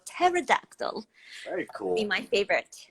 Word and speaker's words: pterodactyl: It's spelled with a P, and so pterodactyl.